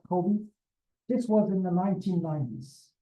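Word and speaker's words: COBE: Okay, and then like Kobe Bryant, it's spelled differently, but Kobe.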